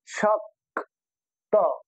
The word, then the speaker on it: শক্ত: যুক্ত বর্ণের মধ্যে যে বর্ণটা মাঝখানে থাকে, প্রথম যে যুক্ত বর্ণটা থাকে সেটার অর্ধেক উচ্চারণ করতে হয়। যেমন এটার মধ্যে আছে ক ত, তাহলে প্রথমে আছে ক, এই কটাকে আমরা অর্ধেক উচ্চারণ করব। যেমন তালবস্য ক সম্পূর্ণ উচ্চারণ করলে শক হয়, এই জন্য আমরা অর্ধেক উচ্চারণ করব। তালব্যস্য ক, শক্ত শক্ত।